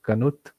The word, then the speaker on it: Knuth: is named after so this guy is named pronounced as Knuth this is Morris this is Pratt and this